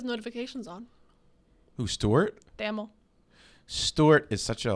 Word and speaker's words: Stewart: tony stewart they just i don't like the way you say stewart at all not even a little bit it's better than notre dame stork tony stewart two syllables here stewart tony stewart oh my